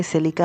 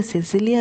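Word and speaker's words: Cecilia: जी हाँ, उसकी नाम सिसिलिया है, मैं सिलिका बोलता हूँ क्योंकि मुझे प्रोनाउंस करने में ज़्यादा आसानी होता है। और सिसिलिया बोलूँगा ना यार तो गलती हो सकता है, लेकिन अब से मैं यार उसे सिसिलिया ही बोलूँगा, ठीक है ना?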